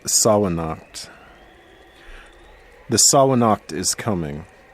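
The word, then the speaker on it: Samhain: It's the either Sawanacht or Savanacht. I have heard this argument, yes. Yeah. I'm going to go with Sawanacht.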